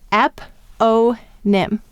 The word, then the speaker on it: eponym: talk about that so how many syllables an app Oh NIM we have three the first syllable is app ah the second syllable is oh and the third syllable is NIM mm-hmm once again the O is saying its long sound at the end of the Civil some of you may